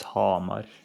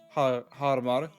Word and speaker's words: Hamar: No, it's Hamar. Hamar. Harmar. Harmar. It's not Harmar.